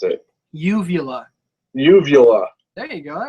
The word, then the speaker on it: uvula: lot of trouble with that word I can't pronounce it uvula uvula there you go that wasn't bad give